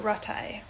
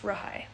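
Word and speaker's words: rathai: And the silent word is the T, or the silent letters are the TH. So Rahai has R, it's like R-A-T-H-A-I. So Ratai, but it's pronounced Rahai.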